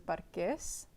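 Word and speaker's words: parqués: when my mom says it in Spanish, I think she pronounces parques. So it doesn't have as much of an easy, cheesy sound, I guess.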